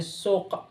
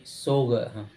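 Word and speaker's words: سوق: Misalnya kadang-kadang suk itu bahasa pusanya suk, tapi dalam amiyah menjadi berubah jadi sug.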